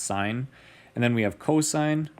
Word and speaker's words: sine: find sine it's the it looks like sin it's SI n it's abbreviated down below here but it's pronounced sine and then we have